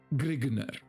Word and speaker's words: Grignr: the convention is that grignard is pronounced grigner roger mcbride allen valentine's